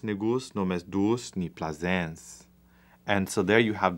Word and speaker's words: plaisance: If this was French, plaisance. And so you would actually have that S sound at the end of plaisance in French, but then it wouldn't rhyme with pansement.